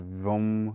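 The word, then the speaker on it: vam: A mantra the ba mantra or seed sound of the sacral chakra is va m pronounced vom vu m.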